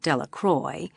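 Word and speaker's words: Delacroix: Harry Jones and Dicky delaqua the villagers pronounced this name de Croy eventually made a great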